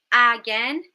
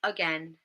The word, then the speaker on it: again: Instead of again, we say again, again.